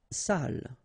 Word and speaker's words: salle: Salle. Une salle. Okay, so even if you get the double L here, it will be still the same pronunciation as this one.